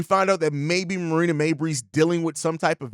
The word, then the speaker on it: Mabrey: Now, as far as Marina Mabrey, bro, Mabrey, not Mobley.